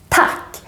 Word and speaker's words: tack: But then we have the word thank you in Swedish, tack, with a short A because there are two consonants coming after the A.